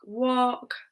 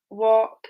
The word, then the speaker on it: walk: Okay, so here we have a vowel in the middle of the word, followed by the letter L. Notice it's only the vowels O, U, or A with this rule, not all the vowels.